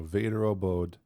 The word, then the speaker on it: Väderöbod: So I looked up some pronunciations to get this going. So Väderöbod.